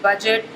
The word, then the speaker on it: budget: इसके अलावा BRIDGE ब्रिज या BUDGET बजट, इसमें जैसे डी साइलेंट है, जहाँ पे डी और जी साथ आ रहा है ब्रिज, बजट, फ्रिज, उसमें जब जी साइलेंट होता है, सॉरी डी साइलेंट होता है।